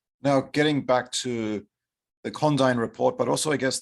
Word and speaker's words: Condign: assigned to it was condyne c-o-n-d-i-g-n but the correct pronunciation of that word in uk english is condyn so first